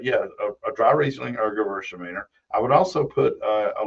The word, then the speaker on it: Gewürztraminer: Gewürztraminer. Okay. It's G-U-W, but they pronounce it Gewürz, Because it's Gewürztraminer. German, not English.